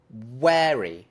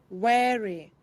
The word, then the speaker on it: wary: So there's a difference in the vowel, of course, in the first syllable. In the first case, it's short, very, eh. In the second case, it's long, wary, eh.